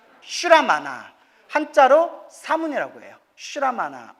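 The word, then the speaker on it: श्रमण: 문이라고 불러요 따라 사문 사문은 산스크리트어로 따라해 보세요 슈라마나 슈라마나 한자로 문이라고 해요 슈라마나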